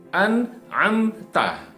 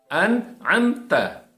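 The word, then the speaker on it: أنعمت: sering terjadi kesalahan adalah jadi frase an amta ya perhatikan bahwa ini adalah huruf hamzah an amta kemudian lain kemudian mim sukun an Anta tapi kita sering mendengar dibaca Anta Jadi huruf hamzah dibacain Ananta yang ini like comment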